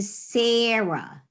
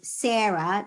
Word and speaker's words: Sarah: for example in that most of the words in english where the h at the end is silent are actually words that come from hebrew like the name sarah write the name sarah